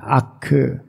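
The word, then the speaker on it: אך: 하나님만 오직 그만이이 말은 히브리말로 크라고 발음을 해 아크 영어로는 리 그러니까 오직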